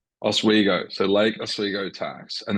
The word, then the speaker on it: Oswego: It's pronounced Oswego. Oswego, so Lake Oswego Tax, and then you've got